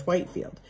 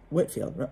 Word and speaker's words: Whitefield: friends with the evangelist george whitefield he whitfield excuse me that's george whitfield on franklin knew of